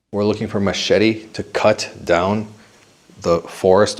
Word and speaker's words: machete: The ch makes a soft sh sound like in fish. Mush. And then Eddie. The t makes a fast d.